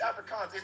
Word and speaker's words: Afrikaans: It's Afrikaans. It's with a K. It's Africa KAAN or something like that.